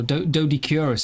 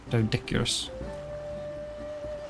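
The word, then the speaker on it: Doedicurus: See, I think like the start gets confusing because you read it as do or do, and then ed. So doed or dude. But obviously do as in a deer is spelled D-O-E as well. So you can have do, D. Yeah. I would have gone with do, dick, urus. Dodicurus. But maybe it's meant to be doed Icarus, and yeah.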